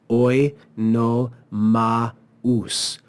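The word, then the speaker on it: Oenomaus: We see the diaresis here, which says no, this is not the diphthong au. This is two separate syllables. So we read it as oi no maus.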